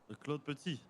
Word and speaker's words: Claude Petit: Are you pronouncing the second T? Or No, you don't. so it's just Claude Petit. So almost. It's like E at the end, Petit.